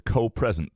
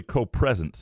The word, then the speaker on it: co-presence: You were pronouncing it wrong reading it. You kept saying co-present. Co-present. Yeah. I'm spelling it and announcing it wrong, saying co-present. It's really co-presence is where it came from.